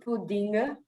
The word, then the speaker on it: pudding: With a U, Pudding. Pudding. like bull.